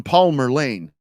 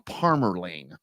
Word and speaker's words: Parmer Lane: pronunciation though yeah or I'm driving down Palmer Lane no you're driving down Parmer lanee M waxah Hatchy yeah all